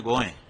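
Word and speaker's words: गोंय: वह कोकणी भाषा में गोएं अभी भी एयरपोर्ट पर हम जाते हैं वहां लिखा है गोएं। गोवा नहीं लिखा है। वह गोवा तो अंग्रेजों का उच्चारण है।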